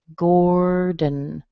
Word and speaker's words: Gordon: So if I say it this way, I'm going to say gore. So this or is the same as in bore and store and more. And then, of course, we use a D and a schwa and an N, and you get Gordon, Gordon.